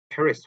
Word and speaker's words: Paris: 그래서 이것도 Paris 혹은 파리, 파르, 파리 요렇게 읽습니다. 파리, France, 파리 이렇게. 그렇게 R 발음을 R 발음이죠.